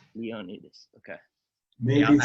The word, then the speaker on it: Ioannidis: Yeah, could you pronounce it again, sorry? Ioannidis. Ioannidis, okay.